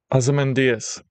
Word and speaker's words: Ozymandias: I just googled Ozymandias pronunciation, and this is what I got. Ozymandias.